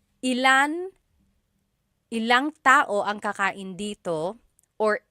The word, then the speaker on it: ilang: When there's ilan ang, it's usually put together and it's ilang.